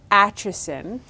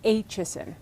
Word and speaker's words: Aitchison: that people love too I know how to pronounce it yes but it is HSN it well I'm told it's HSN but you know my family told me that but there are some old folks around Huntsville that tell me I don't know how to pronounce my last name I'm running with HSN I usually answer to